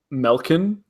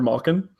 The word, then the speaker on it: Malkin: bad one where he'll say Melkin for Malkin. Malkin, Evgeny And Malkin. I can't make him stop because I'm like, Dad, it's Evgeny Malkin.